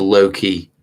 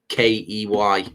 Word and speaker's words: Lowkey: I've just subscribed to Loki. No, Loki is it's spelled different, Phils. It's actually Lowkey, so low and then key, rather than Loki, the, you know, the god, if you like, God's son.